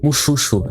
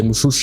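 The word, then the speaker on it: mušḫuššu: Muxuxo é mais ou menos isso, a pronúncia que eu encontrei.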